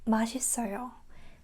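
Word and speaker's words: 맛있어요: So, this one kind of combines with the next one in because it doesn't have the pronunciation. It's a vowel, right? Put it in. And also this one connects to the next one. Put it in. So, it's like it's it sounds like pudding. Put it in. Put it in. Put it in, right? So, it's like that. Instead of saying mashisoyo, we say mashisoyo.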